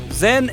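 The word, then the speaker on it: Zhen: le nom de canton Zen est la prononciation du nom de la fille de la dialecte Pékin tandis que la famille yen et la prononciation cantonnaise le père de la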